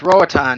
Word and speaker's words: Roatan: Rotan. It's Roatan, yeah.